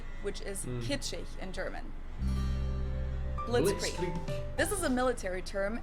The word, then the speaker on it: Blitzkrieg: We pronounce it Blitzkrieg in German, and it literally translates to Blitzkrieg.